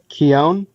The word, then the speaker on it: Keown: How do you pronounce it, dude? Keown.